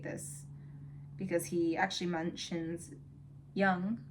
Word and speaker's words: Jung: because he actually mentions Young, who I often accidentally call Jung because of the way it's spelled.